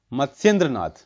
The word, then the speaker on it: मत्स्येंद्रनाथ: ठीक है, मत्स्येंद्र नाथ, जो अब सही प्रोनाउंसिएशन मैंने किया, मत्स्येंद्र नाथ.